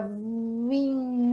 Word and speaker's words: vim: No caso, o N aqui, ele só me diz o seguinte: esse I vai ser pronunciado de maneira nasalada.